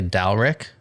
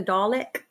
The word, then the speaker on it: Dalek: So, I was pronouncing it wrong when I say Dalick. Yeah. I was trying to go for Dalek like in Doctor Who.